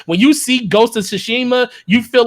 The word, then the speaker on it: Tsushima: this information and it's it's not sue like s u it's actually t-s-u okay that's why that's